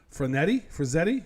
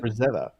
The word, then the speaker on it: Frazetta: Frazzetti? How do you say it? Frazetta.